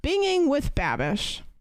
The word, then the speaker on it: Binging with Babish: berm thank you for the gifted sub to binging with babish it's not pronouncing either way one goddamn time do